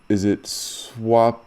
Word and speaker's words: Swapnil: Is it Swapnil Yes? you are right. Bang on. First time, it's Swapnil.